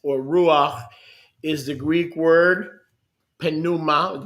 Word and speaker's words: pneuma: We learned yesterday that the Greek word for wind or breath or ruach is the Greek word pneuma, the P is silent, pneuma.